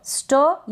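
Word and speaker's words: store: यहाँ पर प्रोनाउंसिएशन मैंने बताया है, लेकिन आप ध्यान रखिए एस टी को स्टो पढ़ते हैं, सट नहीं पढ़े, यानी एस को हम पूरा स नहीं पढ़ते, आधा स पढ़ते हैं।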